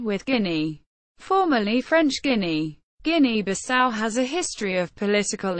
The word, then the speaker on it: Guinea-Bissau: Guinea-Bissau. Listen. ɡiઃnɛ-bi-SOW. Officially the Republic of Guinea-Bissau. Portuguese. República da Guiné-Bissau.